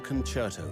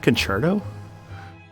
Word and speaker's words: concerto: Is that how you say it? Concerto? Concerto, yeah. Huh, I always said concerto. It's Italian. Concerto. Yeah, it's Concerto.